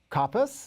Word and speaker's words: Coppes: a very special guest Theodore coppice am I saying it right Theodore yes yes he is he has